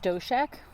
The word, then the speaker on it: Stoscheck: It's pronounced Stoscheck.